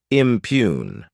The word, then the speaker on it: impugn: verb impune to impune this word has two syllables and the stress is on that second syllable impune what it means is